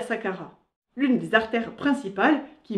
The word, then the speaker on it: Saqqarah: dire comment aller à Saqqara. Jusqu'à ce que j'apprenne qu'au Caire, le Q se prononce comme un H aspiré. Donc, si au Caire, on vous propose une excursion au Sahara, vous saurez où vous atterrirez.